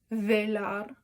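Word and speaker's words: belar: So that's just a single R, so you would say it like velar. Like a very little tap. Instead of a full rolled R like those double R's are, it's just a little tap.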